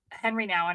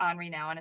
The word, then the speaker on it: Henri Nouwen: where it came from, but Henry Nouwen, or Henri Nouwen is probably how it's pronounced, as a Catholic priest,